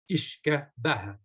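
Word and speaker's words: uisce beatha: Ishka being the Irish for water, and Baha being the Irish for life. For so life water, sure. The water of life. So yeah. Phonetically, whiskey is Ishka Baha.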